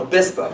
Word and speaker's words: Obispo: Did I pronounce Obispo? Obispo, yeah.